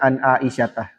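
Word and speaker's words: عن عائشة: Tanda jarnya adalah fathah. Maka bacanya an aisyatah.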